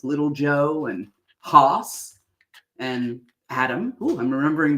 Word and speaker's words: Hoss: His name was Hoss, not horse. Oh, was that how you say it in the South? Maybe in the West? Hoss.